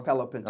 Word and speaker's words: Palo Pinto: h Palo Pinto uh is it pal Palo Pinto Palo Pinto okay I want to make sure I'm saying it right okay so then I'm